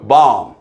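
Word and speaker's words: bomb: 영어 단어가 mb로 끝나면 모든 단어는 이때 비무음입니다. 웅부 아니고 웅 자 새끼양 새끼양 야 새끼양 새끼양 어 램 하고 울잖아요. 램 램 발음 어 폭탄 본부 아니고 뭐예요? 밤 됐죠?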